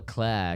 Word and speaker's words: Claire: Claire, and she'd be like, "No, it's Claire," because she was like, "No, this is my accent. This is how I say it."